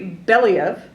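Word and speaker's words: Belyaev: scientist called Dimitri Dimitri bellev okay I am from Alaska so we can see Russia from there so I can pronounce this yeah you got you can trust me on the pronunciation and so back in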